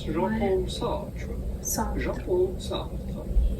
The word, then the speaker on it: Jean-Paul Sartre: Jean-Paul Sartre. In French again, Sartre. Jean-Paul Sartre. Okay, Sartre. Sure, close enough.